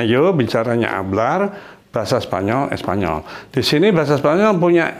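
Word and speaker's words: español: n-nya gitu seperti n Jadi kalau gitu ini seperti NY jadi sanyolnya ya karena ini n bukan Espanol Ini ya Bukan Espanol tapi Espanyol jadi beda kalau n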